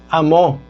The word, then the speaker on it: amó: Dice, porque de tal manera amó, acento en la O.